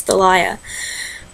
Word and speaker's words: Thalia: I actually looked that up to make sure I knew how to pronounce it. Her name is Thalia.